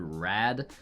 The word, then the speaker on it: Rad: the speedroid wheel or this is pronounced here rad very very cool name and three copies of